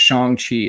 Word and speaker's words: Shang-Chi: And it's really pronounced Shang-Chi.